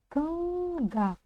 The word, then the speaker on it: Тыңда: Напомню, что буква «ы» — это не русская буква «ы», которая читается широко и твердо. Да-да-да, в казахском языке она тоже читается твердо, я согласна. Но ее как будто бы вообще нет в данном слоге. Мы попробуем произнести слог «т» без буквы «ы».